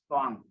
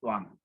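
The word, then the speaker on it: tvaṃ: Therefore, TVAM is pronounced as Tuang. Yeah. TUAM is pronounced as NG, so becomes Tuang.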